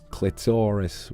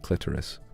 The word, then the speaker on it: clitoris: seeing it for ages clitorus well no in the UK we would pronounce it clitoris rubbish put the fries